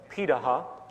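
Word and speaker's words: Pirahã: We know this today because of anthropological research done on remaining hunter-gatherer societies around the world, such as the Pidaha, which is how it's pronunciated, out of Brazil.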